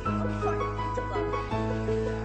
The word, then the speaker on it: comfortable: Bilangin mo ang apat na syllable, tatlo lang ibigkas mo.